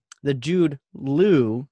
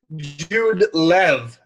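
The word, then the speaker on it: Jud Lew: Yeah, it was the Jude Lou, not Jude Law book, right? And some of the other ones. Yeah. Jude Lev, actually, as I'm told. It's pronounced.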